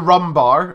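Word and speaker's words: Rhum Bar: It's called the Rum Bar, and it's spelled RHUM, Rum Bar.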